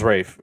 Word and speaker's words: Ralph: hold on you keep saying Ralph isn't it Rafe Rafe finds yeah I my bad no I'm just I'm no it is Rafe and then like George call Miguel all the